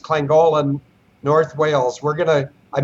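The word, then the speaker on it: Llangollen: we're going back to lank it's actually pronounced clang Golan North Wales we're gonna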